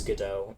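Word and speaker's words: Godot: I guess GDAU is the proper pronunciation.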